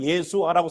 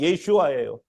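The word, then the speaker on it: ישוע: 우리말로는 예수아라고 써놨지만 정확한 발음은 예슈아예요.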